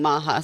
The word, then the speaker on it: MAHA: I think MAHA sounds the best. MAHA sounds better than MAGHA.